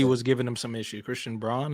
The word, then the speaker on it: Christian Braun: Christian Braun, is that how you say it? Christian Brown, actually. Brown. Very weird spelling of Brown, but Christian Brown.